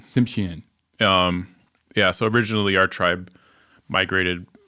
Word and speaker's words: Tsimshian: How do you pronounce that? Tsimshian. Tsimshian.